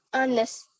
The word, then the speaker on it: honest: Berarti yang silent yang mana, Najla? Honest. Ya, ini kadang masih refleks-refleks haknya tersebut ya, nggak apa-apa. Jadi nanti kalau sudah pelajari, berarti langsung ingat kalau hanya itu tidak kita baca.